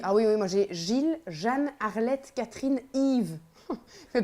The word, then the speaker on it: Gilles: pourquoi parce qu'en Belgique Gilles euh qu'on ne prononce pas de Gilles qu'on prononce Gilles c'est principalement un prénom masculin donc bah moi j'ai